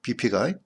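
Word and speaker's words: Buffet: 근데 이거는 왜 그러냐면은 그 비페라는 말이 우리 부페 있잖아요. 부페하고 발음이 똑같아요. 이렇게 비페가. 그게 똑같은 발음이야. 비페하고 부페하고.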